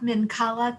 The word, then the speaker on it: Minkala: Minkala of Presque Isle.